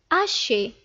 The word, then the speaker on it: hacher: Le premier verbe est hacher, hacher. Le H ici est un H muet.